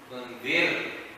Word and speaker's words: تنذرهم: Why you say tunzirhum? Tunzir. Remember the ra is light because there is a kasra before it.